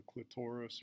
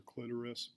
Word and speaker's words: clitoris: to the vagina is the clitoris or clitoris both pronunciations are correct and it's like a